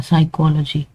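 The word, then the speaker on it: psychology: जहां पे भी आपको पीएस पी एन या के एन नजर आए ना ये आपने याद रखना है। पीs pn और kn तो उसमें पी और के जो है वो साइलेंट होगा। हमने एस से स्टार्ट करना है साइकोलॉजी। ठीक है? और इसी तरह ये नाइफ में हमने के को साइलेंट रखना है।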